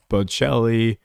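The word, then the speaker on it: Bocelli: Andrea Bochelli. Pronunciation.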